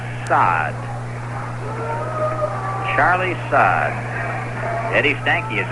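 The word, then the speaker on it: Saad: Spells his name S-A-A-D. I guess you would pronounce that as Sod.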